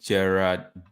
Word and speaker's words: Gerard: So the name is actually Gerard. I don't know how to pronounce it. It's Jaarad.